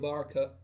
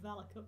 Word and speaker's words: Varaka: However, there's an interesting clause, though, in that should that person succeed, the Varaka is, I think I said it wrong again. I said Valaka, but that's fine. Varaka, it's hard to read, okay?